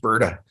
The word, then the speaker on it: Alberta: on a second josh it's it's alberta we like not alberta yes actually we kind of pronounce it berta just berta all right now that's